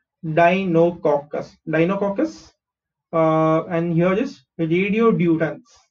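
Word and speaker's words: Deinococcus: Okay how do pronounce this, D ई आई डाई, एन ओ इज नो, COC is cock, CUS is cus, Dinococcus.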